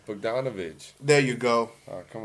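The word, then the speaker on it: Bogdanović: Won it with Oh, it's Bogdanovich. there you go. Oh, come on now. Bojan. Whatever you want to call It's him. Bogan Bogdanovich.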